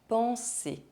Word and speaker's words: penser: The final R of the infinitive of verbs ending in ER is not pronounced. Manger, aller, penser.